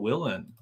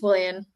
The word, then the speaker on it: Willian: our special guest Willen I'm pretty sure I pronounced that name correctly did I pronounce your last name correctly um probably I think it's Willian yeah Willian okay I was sort